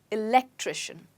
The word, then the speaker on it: electrician: where's the stress well I told you at the beginning of the of this lesson that the stress with the words that end in shun is right before it electrician wonderful now moving